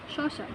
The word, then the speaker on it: শশা: এটা হচ্ছে ইংরেজি এসএইচ এর মতো উচ্চারণ হয়, ঠিক আছে? এটা তোমরা ভালো করে জেনে রাখো, ইংরেজি এসএইচ এর মতো উচ্চারণ হয়। যেমন দেখো আমরা যদি বলি যে শশা, ঠিক আছে?